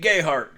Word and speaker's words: Gayheart: great grandfather oh Pete Gayheart yeah big time Bootlegger in these parts I'm like yeah I've heard that and they do they pronounce the name Gay heart down there which is why folks